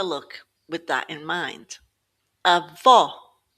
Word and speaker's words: avó: falo falo With an acute accent, it opens it up a bit more like the word hop.